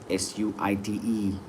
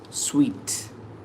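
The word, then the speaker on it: suite: Word number 5, S-U-I-T-E. Sweet. S-U-I-T-E. It is sweet. S-U-I-T-E. We think it is suit. It is sweet.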